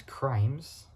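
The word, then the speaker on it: Crymes: Thomas Crimes, which is spelled C-R-Y, so C-R-I, not C-R-I, sorry. It's with the word cry, but putting M-E-S onto it.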